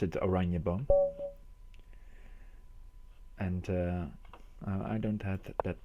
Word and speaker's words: Oranjeboom: well, you pronounce it Oranjeboom.